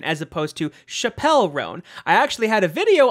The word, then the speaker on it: Chappell Roan: didn't know how to pronounce it I initially pronounced it Chapel rone as opposed to Chappelle rone I actually had a video on this channel